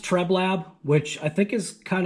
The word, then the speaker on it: Treblab: uh right here you can see it it's pronounced treblab which i think is kind of interesting because